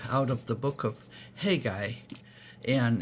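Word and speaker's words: Haggai: a little bit out of the book of hey guy and it's spelled h-a-g-g-a-a-i just a short little book of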